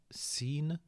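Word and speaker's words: سين: letter right here is called seen and it's pronounced just like an English S as in the word seen when you've seen something okay so a very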